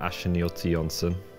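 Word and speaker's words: Achinioti-Jönsson: I think you pronounce it Ancelotti Janssen? Alexander Ashniotti Janssen. Nailed it.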